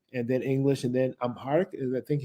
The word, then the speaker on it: Amharic: you say you're more comfortable speaking in Arabic and then English and then Amharic? Is I think how you Exactly.